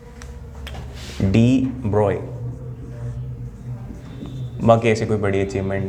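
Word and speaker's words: de Broglie: डी ब्रोगली लिखा हुआ है, पर मैंने तुम्हें बताया था ये स्टाइलिश आदमी है, जैसे इसका नाम दिखता है वैसा प्रोनाउंसिएशन नहीं है इसका, पर बुरा मानता नहीं है क्योंकि ये है नहीं। तो 99% ऑफ जनता गलत बोलती है इसको। डी ब्रोय, बाकी ऐसी कोई बड़ी अचीवमेंट नहीं है।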